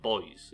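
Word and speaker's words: buoys: So we call it boys, even though it's got a U in it. Since when has something having a U in it made us pronounce it any different?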